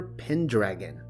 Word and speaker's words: Pendragon: He went by the name of Uther Pendragon, FYI. It is pronounced Pen, but then you have to follow the syllables through to dragon.